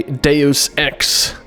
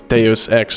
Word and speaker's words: Deus Ex: I know that's stupid because it's Latin, so it's Deus Ex, not Deus Ex, and some people were quite upset about that, so...